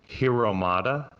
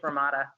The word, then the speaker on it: Hromada: It's a pesky silent H. It's just Hromada. The Czech Republic name.